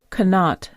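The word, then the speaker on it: qanat: Your word of the day is spelled Q A N A T. Spelled Q A N A T. Canot.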